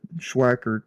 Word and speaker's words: Schwackert: I don't know how you were saying it, but Schwackert is how you normally say it too.